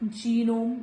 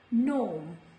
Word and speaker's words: gnome: This is not genome. This is gnome.